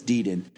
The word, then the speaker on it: Dean: the was it D I cannot remember how to pronounce his name correctly Degan Degan I wanted to say John I wanted to say Gan for some reason but it's Dean Dean yeah other than being